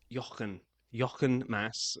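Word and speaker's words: Jochen Mass: how to say this because I knew he's German so it I think it's Yan Yan Mass uh passed away this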